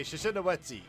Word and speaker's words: Shishinawetsi: Okay, Shishinawetsi. That's how you pronounce it.